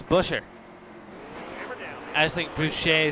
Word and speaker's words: Buescher: guy next to me it's not Boucher it's Chris Buescher I just think Boucher